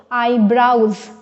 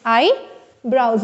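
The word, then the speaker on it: eyebrows: uh will come to यह भी बहुत ज्यादा गलत प्रोनाउंस करते हैं लोग आई ब्राउज इट्स आई ब्राउज बी आर ओ डब्लू एस ठीक है आईब्रो नहीं होगा आई ब्राउज then this is speech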